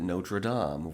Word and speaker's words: Notre Dame: This movie pronounces it Notre Dame, when most English speakers say Notre Dame, and that sounds so fucking stupid, so hey, props.